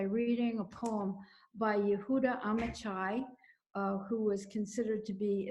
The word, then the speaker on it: Amichai: Jerusalem, Amichai is what they pronounce it.